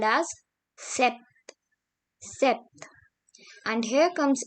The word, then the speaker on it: sept: Then we have 7, which is called as sept.